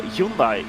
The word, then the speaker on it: Hyundai: wheel driver of a hyundai would be saying that uh it's hyundai like sunday i think is the